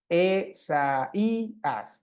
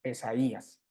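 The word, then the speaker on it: Ἠσαΐας: yota normalmente forman diptongo pero ahí nos ponen una diéresis precisamente para decirnos que en este caso la yota está funcionando sola que no es parte del diptongo con la Alfa entonces e sa I as No tendríamos esas sílabas Y entonces habría que leerlo Isaías no esaias no para por por si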